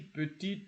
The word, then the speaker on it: petit: You see, petit ordinateur, you see the T. We remember we talked about petit. When the word adjective, petit, is isolated, petit, you don't pronounce the T.